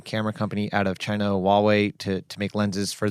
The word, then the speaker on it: Huawei: We we we we saw Leica paired up with with a camera company out of China, Huawei, to to make lenses for them. Say that again. Huawei.